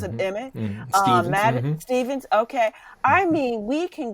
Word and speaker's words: Stephens: Gauff, Sloane Stevens or Stephens, how do you pronounce it, Emmett? Stevens, okay.